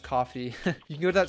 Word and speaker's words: Ko-fi: I guess it's pronounced coffee.